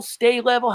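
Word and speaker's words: Sta-Level: And he always used that Is it sta level? Stay level? How do you say it? S T A Stay level, yeah. Stay level. Okay, stay level.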